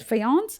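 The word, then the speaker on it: faience: a i n c even though it's written like that it's pronounced as fance and see uh I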